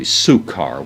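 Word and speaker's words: Sychar: name of sakaar Sekar probably sukar we might say if we're just going to pronounce it according to the Greek here that we have before us this has been a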